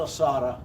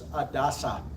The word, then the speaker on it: Adasa: Wish I had time to get into the battle of, it's not Asada, I apologize, I misspelled it. The D and the S are transposed. It's Adasa, A-D-A-S-A.